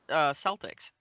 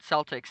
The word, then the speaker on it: Celtic: Or a New York Mets fan or whatever, Boston Celtics, and they pronounce it differently. I'm so used to saying Celtic, which is the proper pronunciation, but Boston Celtics, that's very specific.